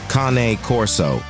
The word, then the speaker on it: Cane Corso: It is pronounced Cane Corso.